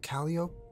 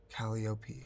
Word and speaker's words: Calliope: Do you pronounce the E at the end of her name, or is it Callio? How do you say it? I don't know why I'm asking you. I mean, maybe you know. I don't think... Calliope. Like kaleidoscope.